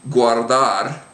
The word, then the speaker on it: guardar: say this in here, but if the U is followed by another letter, like let's say another vowel, A, O, or U, not U, but A or an O, then the U is pronounced.